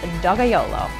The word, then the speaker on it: Dogajolo: This is a 70% Sangiovese, 30% Cabernet Sauvignon from Tuscany, and the wine is pronounced Dogajolo.